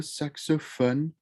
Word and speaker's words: saxophone: piano lu saxophone le saxophone remember with that french oh it's not phone it's fun suck so fun the saxophone love yolo